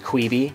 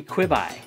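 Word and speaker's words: Quibi: employee at some point Who's like annoyed with people pronouncing it queebie yeah they're like not quebe it's short for quick bites so it tends to be quit by yeah it should be quibby I love that they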